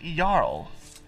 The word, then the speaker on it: Jarl: Oh, the Jarl. That's how you pronounce it. Jarl.